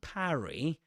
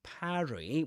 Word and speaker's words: parry: Okay, so you can parry, and mind the pronunciation, parry with an A, with that A sound, just like in trap or in cat.